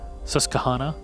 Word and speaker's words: Susquehanna: Susquehanna, I was told. That's how you say it. If you say so. Someone wrote it, tweeted it at me, and I'm not really.